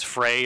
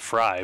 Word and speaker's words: Frey: Is it James Frey or Fry? Fry, I think. Like something. I think it's spelled Frey, Frey, but I think he pronounces it Fry.